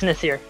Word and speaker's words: Nasir: First question I have for you, just to make sure that we've been saying it right, is it Nasir? Yeah, it's Nasir.